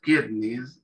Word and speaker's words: kidneys: Los riñones, kidneys, entonces en inglés, kidneys, los riñones. Kidneys. Exacto. Kidneys, es como que esta E no se pronuncia la Y como si fuera una I latina, ¿sí?